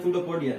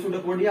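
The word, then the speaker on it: pseudopodia: हम लोग बोलते हैं सूडोपोडिया, जो स्टार्ट होता है पी से। पी सूडोपोडिया होता है, मतलब इसको सूडोपोडिया बोलते हैं, पी साइलेंट आता है यहाँ पे। तो ये सूडोपोडिया होता है यहाँ पे, इसको बोलते हैं सूडोपोडिया।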